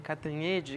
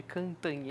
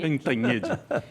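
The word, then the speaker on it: Cantanhêde: Assim como a Eliane Catanede. Cantanhede Cantanhede se pronuncia.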